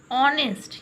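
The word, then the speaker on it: honest: Neela has seen the Taj Mahal, which then is एन ऑनेस्ट। यहाँ पे जो है ये वोवेल प्रोनाउंसिएशन है, दैट्स वाई यहाँ पे एन। एच इज not vowel but pronunciation is vowel, so we are using n.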